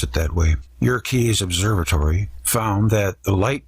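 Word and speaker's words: Yerkes: Dr W hiltner of York's Observatory actually it's your keys Wikipedia says to pronounce it that way your keys Observatory found that the light from certain stars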